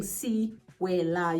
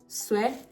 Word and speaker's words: Sewela: The first E is mute. So if I were to like break it down, I take it down from like 3 syllables to 2, right? So instead of saying Sewela, you're gonna say Sewela.